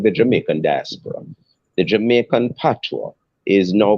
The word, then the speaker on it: patois: away from calling it patois. Because patois is actually originally a derogatory term to refer to a Creole language, and patois, it's actually pronounced patois in the original language, which is French.